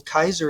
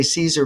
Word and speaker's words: Caesar: had Kaiser Willam well Kaiser is the proper Latin pronunciation of Caesar he did that's some kind of Corruption of L that's um what do you call it Church Latin to say Caesar but it's actually his